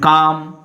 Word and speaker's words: calm: And calm, quiet, peace. And here is L is silent.